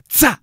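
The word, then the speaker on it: SZA: Tsa. And that's S-Z-A, and I'm assuming that's how you pronounce her name.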